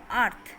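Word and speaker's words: earth: যেমন এখানে আছে আর্থ, আর্থ আর্থ কি হচ্ছে থ উচ্চারণ হচ্ছে, দ্যাট মিন্স তোমরা এখানে লিখবে টু।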